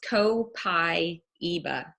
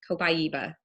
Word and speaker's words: copaiba: Convention and so I just went with his pronunciation I figured you know why not so it's copaiba copaiba and it's a tree it is a a